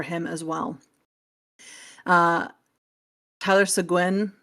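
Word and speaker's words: Seguin: Uh, Tyler Siguin, I always want to say it like Penguin. I know that's not right. Sean, it's Sean. Every time I say it more like Penguin, though.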